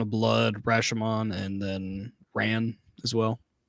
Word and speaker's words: Ran: I do want to watch uh Yojimbo, Sandreo, uh Throne of Blood, Rashimon, and then Ran as well. Authentically pronounced Ron.